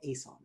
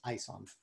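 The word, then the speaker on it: Aeson: I think my wife would tell me it's pronounced ISON.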